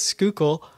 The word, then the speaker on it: Schuylkill: Really to pronounce it. And it really is Schuylkill.